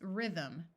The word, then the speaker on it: rhythm: Note that Y in the middle of a syllable has a short I sound, and this TH uses the second sound of th, so the word is rhythm.